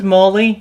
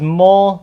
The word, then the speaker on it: Mole: So this is Mole National Park. It looks like it says Mole National Park, but it's actually pronounced Mole.